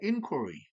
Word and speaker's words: inquiry: 그 다음에 inquiry, inquire, inquire의 명사입니다. inquiry예요, 발음이 달라지죠? inquire, 탐구하다, 질문하다, 조사하다.